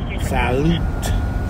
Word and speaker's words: Salut: The tea is not silent. It's not. No. Salut. Well. So how do you pronounce it? She says salute.